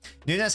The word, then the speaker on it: Nunes: you rodri surging forwards Nunes don't shoot mate I should have listed a bit higher than Nunez is it Nunez or Nunez no it's Nunes I had to research the Portuguese pronunciation bikini what's he done